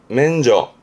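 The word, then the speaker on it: 免除: 뒷글자는 제자, 이게 면제해주는 발음은 맨저.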